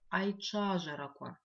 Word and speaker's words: айчажараква: В этом слове мы видим три интересных звука. Давайте постараемся их запомнить. Звук Ч пишется как Ч, В, произносится как Ч. Запоминаем мы этот звук с помощью слова кровать.